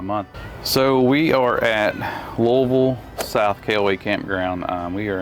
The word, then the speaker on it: Louisville: So we are at Louisville South KOA Campground.